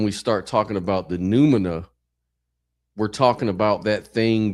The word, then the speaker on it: numina: Nomina. I think you said nomina. But yes, it's Numina.